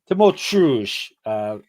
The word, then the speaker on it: Tymoteusz: Tymoteusz.